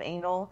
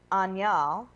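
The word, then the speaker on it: Añal: of the town of Anal has what's called a tilde. Mm-hmm. It's like that symbol above the letter N. It's pronounced Anyal. But not anal, but that's just how we would say it.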